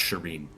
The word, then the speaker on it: Shirin: I'm Shirin. It's actually pronounced Shireen.